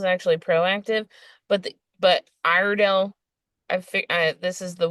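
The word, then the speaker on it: Iredell: of Statesville is actually proactive but the but irell I fig this is the the weirdest okay this county is spelled i r e d e l l so obviously it's weidel right it's irido that's how it's phonetically pronounced but um not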